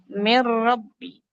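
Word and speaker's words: مِن رَّبِّ: lam atau ro contohnya min rbi itu bacanya mirbi atau Min ladun bacanya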